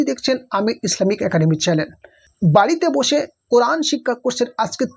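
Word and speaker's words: ب: বা, এই বায়ের মাখরাজ হচ্ছে দুই ঠোঁটের শুকনো অংশ হইতে উচ্চারণ হয়। দুই ঠোঁটের শুকনো অংশ, এই দুই ঠোঁটের শুকনো অংশ। বা, বা, আমার ঠোঁটের দিকে দেখুন, বা।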